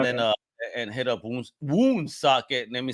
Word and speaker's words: Woonsocket: and hit up Woonsocket.